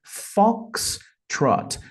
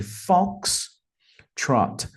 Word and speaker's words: Foxtrot: para aviação vai ser Fox Trot percebam que a pronúncia né Tem duas sílabas e a primeira é a mais forte Fox Trot Fox Trot Fox Trot